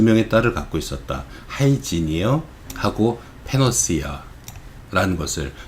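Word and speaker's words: Hygieia: 하이지니어하고 페노시아라는 것을, 하이지니어는 요 뒤에 나온 하이진, 즉 위생과 발음 비슷하죠.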